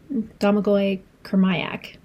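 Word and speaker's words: Domagoj Kurmaić: is Mother Mother of Learning Arc 3 by Domagoj Kurmaic. So, I did listen to the audiobook and that is how the audiobook narrator pronounced the name of the author, so Domagoj Kurmaic.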